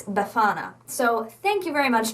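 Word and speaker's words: Befana: you a pronunciation so the emphasis is on the middle syllable it's beana so thank you very much to the person who told me that I was saying buana incorrectly the entire previous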